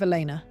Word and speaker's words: Elena: L, the beginning of Elena. My name is Elena, one hard E, two syllables, the opening sound the same.